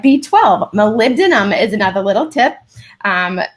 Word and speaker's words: molybdenum: mo ly be de in um and it's molybdenum it kind of looks like it says live it's pronounced molybdenum and it really helps clear sulfur pathways so